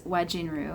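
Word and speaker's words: Wajinru: I think it's wajin because it's w a j i n ru.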